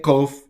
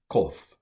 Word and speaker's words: kof: goes below the line, kof. And we translate it with a Q. It's not exactly a Q, but ko.